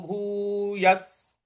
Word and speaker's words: भूयः: देखिए य के आगे जो विसर्ग है उसके आगे स है, तो स का उच्चारण ले आना है यहां पे हमको।